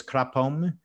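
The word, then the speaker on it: ครับผม: And there's another, like the ultra polite word is kapom, but but the official way to say it is krapom. But everyone just says kapom, even though that's like really, really, really, really polite anyway.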